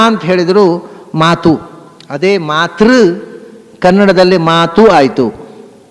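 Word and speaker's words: mot: ಆಯ್ತು ಅದೇ ಸಂಸಲ್ಲಿ ಮಾಯ್ತು ಮ ಅನ್ನೋದು ಫ್ರೆಂಚ್ನಲ್ಲಿ ಎಂ ಓಟಿ ಮ ಅಂತ ಉಚ್ಚಾರ ಅದಕ್ಕೆ ಅಲ್ಲಿ ಇರೋದು ಮಾತು ಅಂತಲೇ ಟಿ ಇದೆ ಸೈಲೆಂಟ್ ಇದೆಲ್ಲ ಒಂದು ಭಾಷೆಯಿಂದ ಇನ್ನೊಂದು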